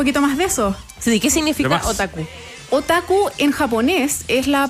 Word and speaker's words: otaku: ¿Y cómo se pronuncia? Otaku.